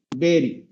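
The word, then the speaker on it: berry: এই যে এটা উচ্চারণ হলো, আমরা নরমালি পড়বো কি স্যার, বাড়ি, তাই না, বানান দেখে জি স্যার, জি স্যার, আমরা বাড়ি পড়বো, কিন্তু আসলে ডিকশনারি সাউন্ড হলো এই যে এটা উচ্চারণ করি তো স্যার, প্রথমটাকে বি এ আর ই, বেরি, বেরি, যেহেতু একটা ভাওয়েল পর একটা সেমি ভাওয়েল আছে, প্রথমটা একটু কি হবে, একটু স্ট্রেস হবে, বেরি, নট বাড়ি, বেরি।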